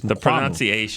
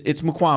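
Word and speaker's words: Mukuamu: You guys are right. It's Mukwamu. The pronunciation sheet actually had the wrong stress. Yeah, but it's Mukwamu.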